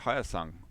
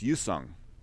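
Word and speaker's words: Hyosung: do pronounce the h in korea they don't pronounce the h so it's it's you song you song and youndai is the h is not pronounced that is just a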